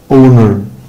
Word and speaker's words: owner: Owner، owner، owner. طبعا الاتش هنا حبايبي سايلنت.